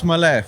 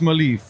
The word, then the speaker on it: Maleev: nice to meet you Mal Alex malev it's pronounce malev all right uh so and mispronounced malive but it doesn't bother me and most people